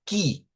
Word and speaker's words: que: u y e, pero en el portugués esto se pronuncia como qui, o sea, se pronuncia con una k y una i que vamos a ir